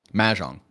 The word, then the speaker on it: Mahjong: I want to pronounce it right. Mahjong. Mahjong.